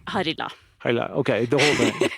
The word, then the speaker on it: Harila: Harila.